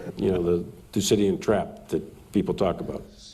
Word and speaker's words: Thucydides: You know, the Thucydides trap that people talk about. Thucydides trap. Thucydides trap. Okay, so how do you say this fellow's name? Thucydides. So let's see if you can say that. Thucydides.